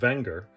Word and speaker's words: Wenger: a quick history of the wenger brand technically pronounced wenger the company dates back to the late 1800s